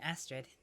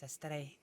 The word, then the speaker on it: Astrið: But yeah, the Ed, that's the name for the thing that looks a little bit like a D, but it's got the line through it. It's not pronounced in Varyask. That's why my name isn't Astrид. It's Astrið. Or Astrið, depending on exactly what dialect you want to use. In Icelandic, it has more of a TH sound. But like a very faint TH.